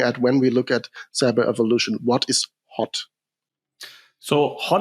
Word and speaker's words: cyberevolution: Yeah, I think you already pronounced it accordingly. The word cyberevolution obviously carries evolution and revolution in it.